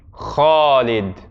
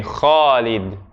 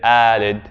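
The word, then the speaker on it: خالد: But if we were to pronounce it completely correctly, that a actually comes after the kha. So to say it correctly would be Khalid. Everyone say after me, Khalid.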